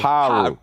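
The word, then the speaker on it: Piru: Just Last time you made me say Parus, and I think that was it's Paru. Parus. Yeah. I said it's spelled Pyru, but it's No, I said Pa. The enunciation is Paru.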